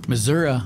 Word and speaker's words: Missouri: Missouri was the right pronunciation before you changed it to Missouri.